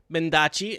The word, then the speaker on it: Mendacii: And our guest this week, Mendacii, and that is correct, right? That's how I'm supposed to be pronouncing it? Yeah, It's yes it Versace. is. Mendacii.